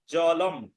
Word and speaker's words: জলং: সাধারণত কোনো শব্দের শেষে যদি অনুস্বার থাকে তাহলে তার উচ্চারণ ময়ের মতো হয়। যেমন ফলং, যদি শব্দের মধ্যে থাকে ফলং তাহলে উচ্চারণ হবে ফলম। জলং এর উচ্চারণ হবে জলম। ফলং হবে না, ফলম। জলং হবে না, জলম।